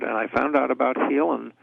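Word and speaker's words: Haelan: can find it as healing products calm it's pronounced healing but it spells eight like Ellen hae LAN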